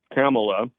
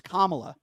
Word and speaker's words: Kamala: Now, Biden and Kamala are both Kamala. in favor. Why don't you pronounce her name right? It's Kamala.